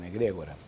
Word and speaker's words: egrégor: that we call Egregore Maybe in Spanish it's Egregore, but I'm not sure because in portuguese we call it Egregor Very well.